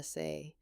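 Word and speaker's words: 사: 4 is the unlucky number in Korean culture, pronounced SA. It sounds identical to the word for death.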